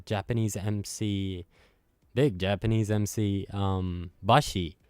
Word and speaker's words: Basi: But this track is featuring Japanese MC, big Japanese MC, Bashi, which is spelled Basi, and who's a really prominent figure in the Japanese hip hop community.